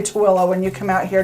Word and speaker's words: Tooele: And we'll tell you how to say Tooele when you come out here to Utah. Yeah, because it looks like Thule, but it's Tooele.